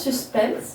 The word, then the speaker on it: suspens: Ça se prononce suspense, mais ça s'écrit suspens.